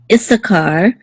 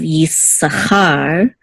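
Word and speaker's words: יִשָּׂשכָר: Good, and again we see that the accent marks in English it's Issachar instead of Yissachar, and in English it's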